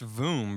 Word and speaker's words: vomb: It's voom, bro. It's like womb, but with a V.